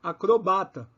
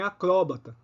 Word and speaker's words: acrobata: você estará correto então você tem acrobata mas você tem também acróbata se escrever acróbata e